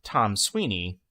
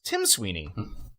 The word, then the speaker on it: Tim Sweeney: Recently, Tom Sweeney, who owns Epic Games? Tim Sweeney.